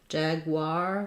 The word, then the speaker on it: jaguar: cougar they say ER Jaguar they say r and then cheetah there's